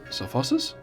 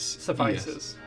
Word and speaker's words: suffuses: Suffuses. S-U-F-F-U-S. Suffices. That's how you pronounce that?